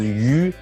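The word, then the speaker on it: 鱼: like a fish, because fish pronounced as yu means like you have some surplus, right?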